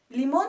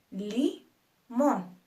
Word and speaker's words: limón: tónica un ejemplo limón limón se divide en dos sílabas Li mon nuestra última sílaba es mon y es la más fuerte Li mon por lo